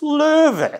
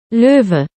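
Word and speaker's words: Löwe: is like you are on crack please it's lur the Google lady is going to tell you how to pronounce it lur if there's one thing you take away from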